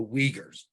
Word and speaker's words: Uyghur: has been happening to this group called The uyghurs People mispronounce that all the time it's it's very